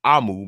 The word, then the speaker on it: omu: author's note explains that omu uh pronounced AMU I'm sorry AMU means Queen in the